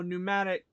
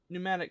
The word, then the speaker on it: pneumatic: what's this PCS oh pneumatic pneumatic control switch p is silent in pneumatic let me see gauge